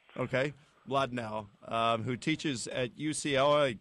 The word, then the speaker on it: Mlodinow: It's it's Madnau, but it's a Russian name. Starts ML, so it's very hard to pronounce in English. Madnau. Okay. Madnau.